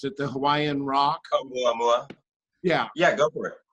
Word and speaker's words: Oumuamua: Fabian, could I have permission to pop up a couple of those graphics from your I can't pronounce it, the Hawaiian rock? Oumuamua.